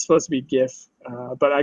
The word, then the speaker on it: GIF: it's supposed to be gif but I call it a gift wait what jiff jiff is what you said right yeah I think I think that's how it's supposed to be pronounced but I refuse I